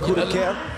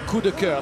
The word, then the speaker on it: coup de cœur: Coup de cœur? Coup de cœur.